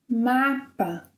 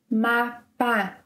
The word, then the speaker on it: mapa: Mapa. Mapa. Yeah, it's not mapa. Mapa. Mapa.